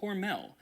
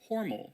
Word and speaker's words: Hormel: Or should I say Hormal because while the company pronounces it Hormel now, at least on their commercials, I guess originally it was Hormal. It's kind of like Ralph Lauren, Ralph Lauren. Maybe it sounds fancier.